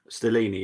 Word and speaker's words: Stellini: Keep Christian Stellini. Is that how you say his name? Say that again, sorry. Christian Stellini, is that how you say? Stellini, yeah.